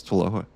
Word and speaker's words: TWLOHA: Did I pronounce TWLOHA? Crushed it. Yeah, TWLOHA.